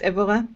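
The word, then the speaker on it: Évora: university of of evera that's it is it pronounced evora yes yes in portugal she has been doing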